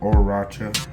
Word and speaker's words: Horchata: It's pronounced English Horchata, so yeah, the H is silent.